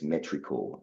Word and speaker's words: Metricool: one that we use and I recommend is Metricool. It's spelled METRICOOL, Metricool.